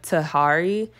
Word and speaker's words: Tahari: nice as well I love this brand the Tahari and that's how you say it um love